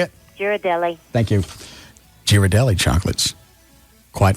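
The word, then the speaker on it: Ghirardelli: Girardelli.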